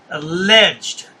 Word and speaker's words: alleged: He always pronounces the e d. Alleged. It's alleged, not alleged.